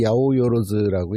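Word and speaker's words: 八百万: 그래서 그거를 한자로는 800만 신이라고 써놓고 읽기는 야오요로즈라고 읽어요.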